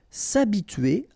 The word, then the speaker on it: s'habituer: So remember, H is not pronounced here, so it's a, and then tuer here. T-U-E-R, tuer. S'habituer. S'habituer à.